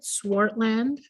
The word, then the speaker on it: Swartland: Is that how you pronounce it? Swartland Yeah.